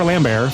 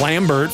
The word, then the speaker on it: Lambert: but it's it's a it's a it's Christopher Lambear from, you know, is that how you say his name?